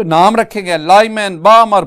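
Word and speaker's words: Balmer: उनमें हमारे पास spectral series एक है Lyman series, the second one इज बामर series. Student, इसमें ना एल साइलेंट है तो बाल्मर नहीं, बामर सीरीज।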